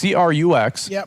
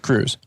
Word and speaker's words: Crux: So it's CRUX, but you pronounce it Cruz. You can pronounce it Crux.